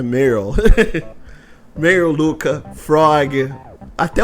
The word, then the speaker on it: Marle: O Crono tem Marle, Luca, Meryl, na verdade, a pronúncia é Meryl.